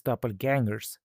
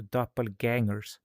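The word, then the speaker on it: doppelgänger: It's doppelgangers because in Swedish that's a ä. So doppelgangers, you know. Or as we say umlaut, that's when you put dots above letters. If you're going to write umlauts, pronounce the umlauts, you know.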